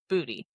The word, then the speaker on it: Booty: I did confirm the pronunciation of this name with football husband and apparently it is Booty.